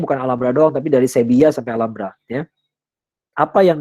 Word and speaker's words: Sevilla: Sevilla itu orang Spanyol baca V itu B ya. V itu dibaca B, double L dibacanya ya tasydid. Nah, jadi bacanya Sevilla yang benar ya.